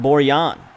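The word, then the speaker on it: Borjan: Gold Cup game and he was pronouncing our goalkeepers name Boyan which I don't know I mean it makes some sort of sense he does play in Eastern Europe and usually they pronounce their JS as wise over there seventy five minutes here's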